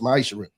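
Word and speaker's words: מעשר: Means tithe in Hebrew is pronounced ma'aser.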